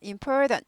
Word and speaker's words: important: important 중요한 important 하지 않고 important 이거 약화되죠. important 약화되고 t는 거의 들리지 않습니다.